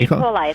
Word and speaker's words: E. coli: Just getting back to the swimming, does the is it E. coli? Am I saying it right? E. coli, that's right.